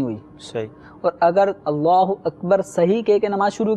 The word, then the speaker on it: اللہ اکبر: کسی نے غلط کیا، مثلا اللہ اکبر کو اللہ اکبار یوں کر کے اگر کسی نے شروع کیا تو اس سے نماز شروع ہی نہیں ہوئی. صحیح. اور اگر اللہ اکبر صحیح کہہ کے نماز